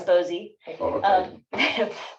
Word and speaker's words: Bosey: and i uh set poor precedent in mispronouncing name in the first meeting it is bosey now we've got fatty